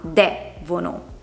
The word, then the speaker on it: devono: Amabile, lodevole, devono. Partendo a contare le sillabe dall'ultima, c'è l'ultima, la penultima e la terzultima. Una parola come devono ha l'accento sulla terzultima, devono.